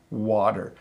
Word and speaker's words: water: challenge comes in that your tongue hits the top of your mouth but it doesn't stay there so it's better water if you want a